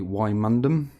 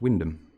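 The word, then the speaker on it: Wymondham: norfolk village name again lon locals would say why mundum in norfolk it's pronounced wyndham and here's some of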